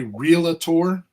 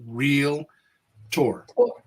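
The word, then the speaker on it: Realtor: no and and and when you say realator it's it's spelled r e a l t o r there is no a there is no a in there r e a l a t o r it's real tour can we say can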